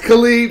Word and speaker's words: Khalid: You pronounce it Khalid. Okay, not the DJ. Not DJ Khaled.